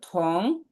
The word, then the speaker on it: 同: থং টি ও এন জি হবে থং, ও এন জি উচ্চারণ হবে অং থং। থং শিয়ে, দুইটা সেকেন্ড 同 বলেন তো। 同 থং শিয়ে 同同学 থং, মুখটা একটু গোল করে বলবেন, থং শিয়ে।